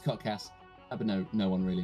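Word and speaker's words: kotks: week at k o t k s it's pronounced codcast but no no one really knows that but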